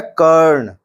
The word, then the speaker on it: करण: करण, करण का अर्थ होता है साधन, और यह है कर्ण। दोनों के उच्चारण में अंतर है। पहले वाला दोबारा सुनिए, करण, और दूसरा कर्ण।